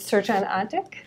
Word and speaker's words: Srdjan: and we're talking with search eng is that how you pronounce your name that's how i pronounce it okay thank you who